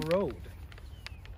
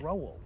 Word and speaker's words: Roald: But why do you keep saying road? How do you say it? Roald.